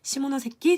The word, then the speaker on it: 시모노세키: 이거 좀 발음 조심해야 돼요. 시모노세키 조약입니다.